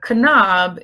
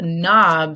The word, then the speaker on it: knob: a doorknob right now what letter is silent in the word knob not a Kanab it's a knob so the K is silent and you know words